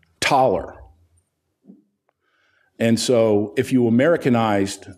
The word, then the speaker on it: Thaler: it used to be thaler because that's how it's pronounced that's that's how it's spelled but it's pronounced taller and so if you